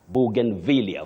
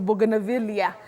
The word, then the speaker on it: bougainvillea: The villia has that stress. Bugen villia for that flower.